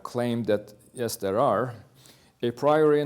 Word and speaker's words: a priori: A priori knowledge, or a priori, sometimes pronounced, a priori knowledge is something like, for example, the claim that everything is caused.